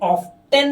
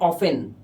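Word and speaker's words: often: दो हाउ ऑफेन और इसे ऑफ्टन नहीं पढ़ते ऑफ्टन इसे पढ़े ऑफेन इसका टी साइलेंट है ध्यान रखना हाउ ऑफेन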